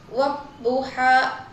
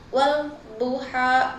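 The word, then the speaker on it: وَالضُّحَىٰ: Cara bacanya huruf lam tidak dibaca dan langsung masuk ke huruf D sehingga dibaca wabuha bukan wal buha kayak gitu.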